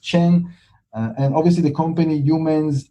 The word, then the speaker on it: Chen: My profile is always there, Chen, it's pronounced Chen.